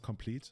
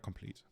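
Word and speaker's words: Compleat: It's an archaic spelling of complete, so we just pronounce it complete. Okay, so it's Caldra complete.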